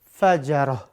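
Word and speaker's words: فجرة: Kita ganti semuanya dengan ha di ujung-ujungnya ya. Maka ini diganti dengan ha. Tun dengan ha. Gobaroh, gobarotun kita ganti dengan ha. Kalau diwakafkan. Qatarotun kita ganti dengan ha. Terakhir al-fajaratu kita ganti dengan ha. Ini pemirsa cara bacanya ya.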